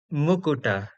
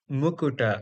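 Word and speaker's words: मुकुट: The Sanskrit ta is the retroflex ta.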